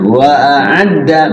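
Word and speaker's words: وأعدّ: Nah, wa a'adda bedakan alif dengan ain, ya. Wa a'adda mana dulu, alif apa ain dulu? Alif dulu.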